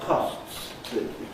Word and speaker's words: costs: the final S in a word like costs. I have to slow down and be careful to say that. And certainly you never hear it if another word follows immediately, but nowadays you don't hear it whatever follows. If the word costs is spoken in isolation, most often most speakers will not say that final S.